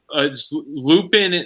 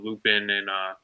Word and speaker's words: Lupin: And I love the opening credit scenes, like where they're Lupin. Is it Lupin or Lupin? Like how's it pronounced? I think in French it's Lupin because of the accent, but I always pronounce it Lupin.